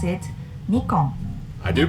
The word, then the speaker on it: Nikon: top brand is this I believe many people pronounce it correctly but I sometimes here people say Nikon but you know this is not correct yes we pronounce it Nikon I do pronounce it correct originally named that